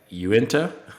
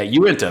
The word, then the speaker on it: Uinta: you like you you u-i-n-t-a is like you enter yeah you enter that's how you pronounce it so you've got you